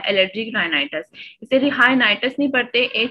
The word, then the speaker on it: rhinitis: राइनाइटिस, ठीक है, H silent होता है, रिहाइनाइटिस नहीं होता, राइनाइटिस होता है, ठीक है।